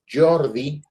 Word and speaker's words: Geordie: Este, esta es una banda se llama Jordi Geordie se escribe, que pues es una